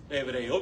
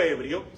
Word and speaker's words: hebreo: sé que ustedes saben hebreo hebreo hebreo no hebrio Cómo se dice serpiente